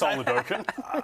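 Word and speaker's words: Oladokun: You say Chris Oladokin. I just couldn't pronounce it.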